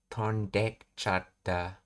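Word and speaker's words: とんでっちゃった: In rapid natural speech, the vowel sound at the beginning of ichata is often dropped entirely and is attached to the verb in the te form. So tonde ichata becomes tondekchata. The e sound is swallowed.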